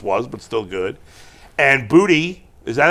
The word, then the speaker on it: Boutte: but still good, and Booty. Is that how you pronounce his name? Boutte. It's Booty, but French.